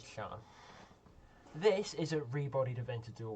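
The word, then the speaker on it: Sián: It's pronounced Sian, not Cyan or Cyan. I always pronounce it Cyan, but nope, it's Sian.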